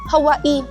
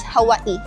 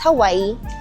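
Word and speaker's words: Hawaiʻi: sa parang podcast siya na parang oh bakit Hawaii ' ba dapat Hawaii ganyan pero tama yung lalaki Hawaii.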